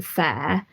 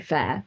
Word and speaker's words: Faire: in sales just through fair this year so far wow and when uh we should say everyone fair is spelled f-a-i-r-e and it's an online